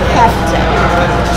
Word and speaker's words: kefta: So what is kefta? So how do you say kefta? Exactly like you just said.